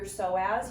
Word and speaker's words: psoas: One of your hip flexors is your psoas. You maybe have heard of the psoas before. If you've ever seen it written, it has a silent P in front of it.